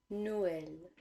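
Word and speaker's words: Noël: that each vowel is pronounced independently for example Noel makes us pronounce the vowels or and uh separately no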